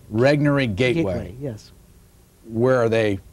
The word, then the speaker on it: Regnery: planet is put out by how do you pronounce it rig Nuri Regnery gateway yes where are they located here in